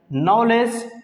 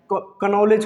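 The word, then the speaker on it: knowledge: नॉलेज, क्योंकि के silent होता है। कनॉलेज कुछ लोग पढ़ते हैं, जो कि गलत साउंड है।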